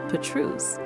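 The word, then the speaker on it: Pétrusse: Spanning high above the deep green valley of the Petrus, pronounced Petrus, the Adolphe Bridge is perhaps the most famous landmark in the entire country.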